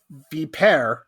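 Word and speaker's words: Vipère: The fact that Vipere, as Google Translate tells me this word is pronounced, is canceled, does it mean anything to you?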